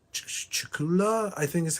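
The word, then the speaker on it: Cthulhu: It's Chula, I think, is how you pronounce it.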